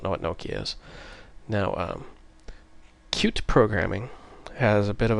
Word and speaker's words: Qt: It's called Qt. It's spelled QT, but it's pronounced Qt.